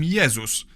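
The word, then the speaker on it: Jezus: In Polish, we call him Yzus. But if we were to pronounce his name the English way, we'd write it down as Jesus.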